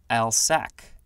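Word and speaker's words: alsike: dog is a German Shepherd next we have Al psyche clover ALS I ke it looks like al psyche can also be pronounced al sack this is a noun from 1835 a European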